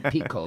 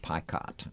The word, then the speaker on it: Picott: Because I called him Pico because I thought it was French. Yeah, and yeah, That's yeah, how you would yep. pronounce it, but he pronounced it Picott.